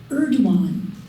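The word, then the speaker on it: Erdoğan: Erdogan, the Turkish alphabet, the pronunciation of G with that um pronunciation key over it, it's silent.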